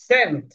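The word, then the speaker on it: cent: সি এর পরে আই আছে সেন্ট সেন্ট সি এর পরে ই আছে তো সি এর পরে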